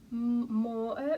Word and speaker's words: Mooer: have to forgive me it's like m-o-o-e-r so i'm just going to go with like more moyer moya there we